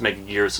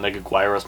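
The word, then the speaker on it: Megaguirus: of annoys me when people mispronounce mega gears his name they call him meg aguirre mega virus whatever um but i just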